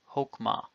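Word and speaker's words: חָכְמָה: Note that as an unaccented closed syllable, this is a kametz hatuf, chokmah.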